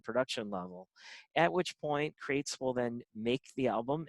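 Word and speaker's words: Qrates: it at the bottom q-r-a-t-e-t-e-s it's pronounced crates crates allows you to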